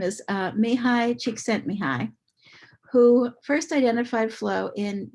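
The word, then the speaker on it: Csíkszentmihályi: I put the pronunciation key there for me. His name is Mihai Csikszentmihalyi, who first identified flow in 1975.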